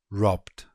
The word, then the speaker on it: robbed: For example, robbed, robbed. B is a voiced consonant, so we get robbed, robbed.